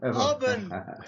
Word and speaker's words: Ubon: Ubon is UBON. Yeah. Lovely. Yeah. Ubon. Ubon. Ubon. Pronounce it properly. Yeah. No, I can say in the Welsh way, Ubon.